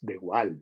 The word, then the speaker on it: de Waal: Los monos capuchinos, hay un primatólogo que se apellida de Waal, holandés, quizás se pronuncie de Waal, es de Waal, porque es con doble A.